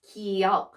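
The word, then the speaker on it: 기역: about so this is kiyok and how to pronounce it it's it's the sound from in the neck good good good okay it's uh it's the middle of the good and k so g and k so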